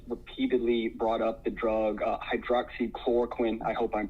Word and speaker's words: hydroxychloroquine: You did pronounce it correctly. It's hydroxychloroquine, and it's a drug that's been around, I think, since 1920s.